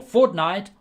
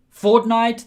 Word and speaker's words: fortnight: every two weeks or fortnight or once a month depends okay and yes the other game has the same pronounced the pronunciation fortnight the game or fortnight two weeks okay did you learn